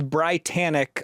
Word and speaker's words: BriTANicK: Your name is Brytanic like Titanic and I think you guys had to explain this to me at some point.